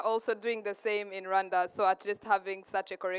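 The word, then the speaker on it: Rwanda: do not they say we we pronounce it as Randa but they say it's guanda so she's going to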